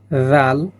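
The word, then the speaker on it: ذال: জাল, এই জালটা হচ্ছে নরম করে উচ্চারণ হবে এবং জালটি কি ৪ আলিফ পরিমাণ টান হবে, জাল, জাল।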